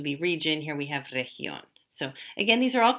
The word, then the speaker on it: región: And you'll notice there is a little accent mark here. So that means we want to make the stress on that syllable.